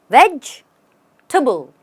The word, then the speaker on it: vegetable: a veggie table now the right way to say it is veg tuble the table becomes tubble it sounds like tubble and the first part is just vegge veg tubble you stress on vegge and then go tubble